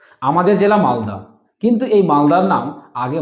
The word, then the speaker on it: মালদহ: আমাদের জেলা মালদা কিন্তু এই মালদার নাম আগে মালদা ছিল না কি ছিল মালদহ ছিল কিভাবে তাহলে মালদহ থেকে মালদার সৃষ্টি হলো